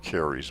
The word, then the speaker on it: Ceres: The reason for the shrine to Ceres or Caries, the Romans would have said Caries because their C was a hard C, pronounced like a K in all cases.